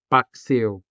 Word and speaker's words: paksiw: And that diphthong is the diphthong ew. You can see this diphthong in the word paksiw.